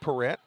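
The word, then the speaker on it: Parrett: now to mason parrot p-a-r-r-e-t-t which could be perette but i wanted to make sure we got it right he asked the fans how do you pronounce it they say parrot like the bird swing and a miss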